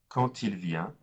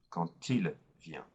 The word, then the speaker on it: quand il vient: Quand il vient, the D is pronounced as a T. Quand il vient.